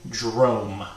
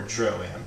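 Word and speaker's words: Droaam: He was pointing you Drome words, or Droam, depending on your pronunciation.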